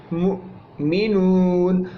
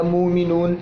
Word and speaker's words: مؤمنون: عام طور پر اس کو اردو میں ہم مومن یا مومنون کہتے ہیں. ٹھیک ہے، تو عربی میں اصل تلفظ جو ہے اس کا وہ ہے مؤمنون، یعنی حمزہ کو ساکن حالت میں جھٹکے سے پڑھا جاتا ہے.